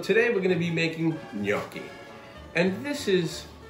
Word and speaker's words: gnocchi: everybody again so today we're gonna be making gnocchi and this is yoki ok it's pronounced new yorky not good nachi please don't ever say good not cheap don't